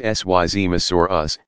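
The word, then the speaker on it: Seismosaurus: Among the longest of these dinosaurs were the Syzmosaurus, pronounced Syzmosaurus, and Supersaurus.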